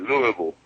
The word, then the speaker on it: Louisville: Do I say it wrong when I say Louisville? Is that how us Northerners say it? No, you could say Louisville. That's right, Louisville.